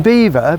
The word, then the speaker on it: Belvoir: top of the hill it gets the name beaver because legend has it that the local anglo-saxons that lived in the villages surrounding it couldn't pronounce Belvoir and they called it beaver and that name stuck